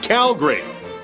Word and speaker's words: Calgary: First, it's pronounced Calgary. No need for that pesky second A.